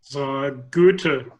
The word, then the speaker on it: Goethe: Hofferberth, how do you pronounce, is it Goethe University? Goethe University.